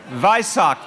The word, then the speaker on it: Vesak: Am I saying it right? Vesak? Vesak. Vaisak, thank you.